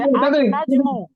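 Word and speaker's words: النجم: এই যে নুন, নুন হলো হরুফুন শামসিয়ার অন্তর্ভুক্ত, ওই জন্য এখানে সূর্যবর্ণ লামটা সূর্যবর্ণ সাইলেন্ট থাকবে, উচ্চারণ হবে না।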